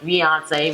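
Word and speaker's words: fiancé: You know, fiance rhymes with Beyonce.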